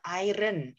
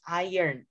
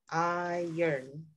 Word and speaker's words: iron: he was iron man it's not iron it's iron iron so you say it like this i yearn iron man iron man